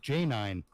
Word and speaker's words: Janine: time ran into her she spelled her name j-a-n-i-n-e okay what does that sound like it spells to you j-a -a-n -i Janae Janine Janine okay j-a-n-i-n-e no uh yeah she she told me it was pronounced j9 so you know what